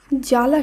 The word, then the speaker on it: জ্বালা: ব ফলা বিলুপ্ত হচ্ছে একইভাবে জ্বালা শব্দে প্রথম বর্ণে রয়েছে বর্গীয় জ এর সঙ্গে ব ফালা কিন্তু শুদ্ধ উচ্চারণে কিন্তু এই ব ফলা আর থাকছে না একইভাবে তক যেখানে ত